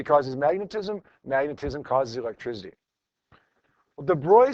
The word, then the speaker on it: de Broglie: Looks like Deb Brogley. Call it Deb Brogley if you want. It's easier to kind of remember that way, but his name is actually pronounced De Bruy, a French guy.